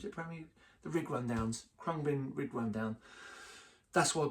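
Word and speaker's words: Khruangbin: It's a real uh I think it's spelled K H R A U N G B I N. Uh Crumbin.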